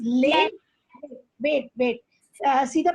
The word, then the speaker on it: Leh: road in the world that is leh wait see the pronunciation that is leh nobra road is the